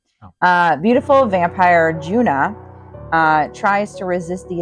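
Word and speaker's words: Djuna: and I don't remember how they were pronouncing it. Jun Juna or Juna? It was Juna.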